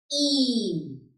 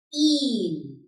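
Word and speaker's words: ihn: H आ रहा है after the vowel, like here. So this will be pronounced long. Een. This is I-H-N. Een.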